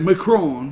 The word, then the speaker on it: Macron: Macron, you got to say it like that, Macron.